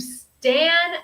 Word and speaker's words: Stan: on Stan okay yes Stan is different from Stand um we don't have that D sound at the end yes exactly Richard very